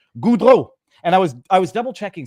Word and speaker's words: Goudreau: I will pronounce his name the way it is supposed to be pronounced in French. Goudreau.